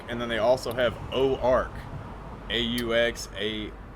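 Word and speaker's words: Auxarc: I thought, It's literally the same thing because Ozark, as it's spelled like O-Z-A-R-K, is how an English speaker would think you would spell the French O-Ark, because the X kind of takes the Z when you combine it with the vowel, so it's Ozark.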